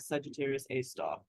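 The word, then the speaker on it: Sagittarius A*: A star and we've we always put the asterisk there and you pronounce that star this is that Sagittarius A star okay so what can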